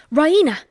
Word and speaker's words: Raina: She pronounces it the Rya with the stress on the e. Ryena.